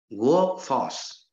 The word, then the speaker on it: workforce: Workforce. It is also a noun. So it is stressed on the first syllable.